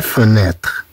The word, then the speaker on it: fenêtre: Et enfin, on a TRE qui se prononce TR. La fenêtre.